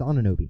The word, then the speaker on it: Anunoby: It's Anunoby.